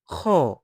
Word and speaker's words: خ: Let the sound come out naturally while keeping your throat relaxed. Watch me. Kha.